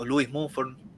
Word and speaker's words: Lewis: humanidad según sus tecnologías lewis mumford luís se pronuncia también un gran filósofo